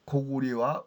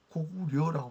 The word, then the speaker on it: 高句麗: 고리라고 읽어야죠. 근데 삼국지에도 지금 우리가 보는 이제 삼국지요. 우리가 보는 삼국지 위서 동의전에 고리는 고구리와 음이 같다.